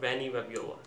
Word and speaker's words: Vanny Vabiola: Vanny Vabiola's video because in the past I used to say her name Vanny Vabiola, but then I saw her video where a person was calling her name Vanny Vabiola. So from now I'll call her Vanny Vabiola, the correct one.